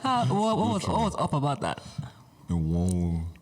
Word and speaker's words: Enwonwu: late celebrated Nigerian creative artist, Professor Benedict Chukwukadibia Enwonwu. Good try. What was up about that? Enwonwu. Enwonwu. Yes, Enwonwu. That's how I pronounce his surname.